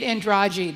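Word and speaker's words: Andrade: Yeah, there's a Brazilian gymnast named uh Jade Andragi. The way that that's the Brazilian pronunciation, we would say Andre here.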